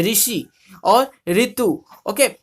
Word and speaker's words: ऋषि: हिंदी में रू का उच्चारण री होता है, री। ओके, हिंदी में हम ओडिया में जैसे बोलते हैं कि ऋषि, ऋतु, पर हिंदी में ऐसे नहीं होता है। हिंदी में क्या बोलते हैं, ऋषि और ऋतु।